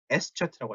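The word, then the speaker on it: Eszett: 요거 뭐라고 읽어요? S차트라고 하죠. S차트.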